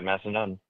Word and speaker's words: Massanutten: They play Massanutten. That's pronounced correctly, right, James? Yep, you got it. Massanutten. You nailed it. Okay, Massanutten.